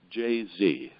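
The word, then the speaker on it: Jaze: Mike says he doesn't care how it's pronounced. It is brilliant marketing. But if he has to pick one, it's Jay-Z.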